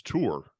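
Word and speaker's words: תור: the land yeah the the Hebrew word is tour a t-o-o-r and I find it very interesting that that word is the same is very similar to the pronunciation of tourist yet another coincidence yeah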